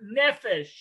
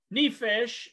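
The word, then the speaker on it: נֶפֶשׁ: the word soul and again if i can pronounce these words it is a hebrew word nephesh nephesh nephesh and it is dealing with the being a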